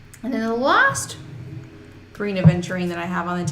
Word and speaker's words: aventurine: I always call it adventurine. I know. I always spell it wrong when I'm typing. Like, I know it's aventurine, but my fingers want to say adventurine. It is aventurine with no D, just so we're very clear.